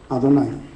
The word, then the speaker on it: Adonai: Esa palabra tradicionalmente ha sido Adonai. ¿Oyeron la O y la A? Adonai, Señor.